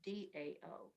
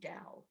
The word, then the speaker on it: Tao: Kathy, the word is Tao, but it's pronounced Dao. It's the Tao, like DOW, Tao.